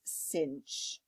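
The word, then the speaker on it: sinh: H for hyperbolic trig which we literally pronounced as cinch okay I know it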